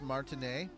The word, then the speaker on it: Martinet: Um uh it's pronounc it's pronounced martin but that's okay.